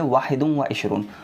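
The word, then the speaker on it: واحد وعشرون: उर्दू में इसका प्रोनाउंसिएशन होगा 21। ठीक है, लेकिन अरबी में इसको हम बोलेंगे वाहिदुम व इशरून।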